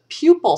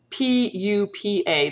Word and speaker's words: pupa: They go between the larval stage and the adult stage is a pupal stage. And if we're going to pronounce it like the Latin, so P-U-P-A, that spells, we pronounce it pupa.